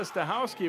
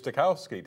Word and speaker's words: Stawski: you may have heard correct pronunciation stawski which we did not know her coach Roger Hansard so that's Brenda though too polite to correct anybody about that it was takowsky to us for for many years